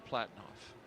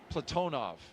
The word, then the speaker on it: Platonov: and Rosscosmos cosminaut Alleg Platinoff Platonov. I corrected my pronunciation yesterday and I slipped back into Americanizing.